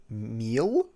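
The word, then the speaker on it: Miel: lead you to the temple of meal m-i-e-l oh great sorry uh i believe that is pronounced meal uh this what you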